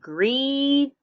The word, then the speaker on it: greedy: We have greedy. All right, notice where that little hyphen is. It's between greed and that letter Y. The Y in that case has the long E sound.